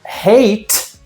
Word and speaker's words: hate: Mas hate, ó, o último som que você tem é do T, não do e.